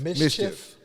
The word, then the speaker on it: MSCHF: they're called like uh it's spelled like funny as m-s-c-hn I think it is yeah no mschf Mischief yeah it's like I'm sure it's like pronounced Mischief it's mschf um so that's the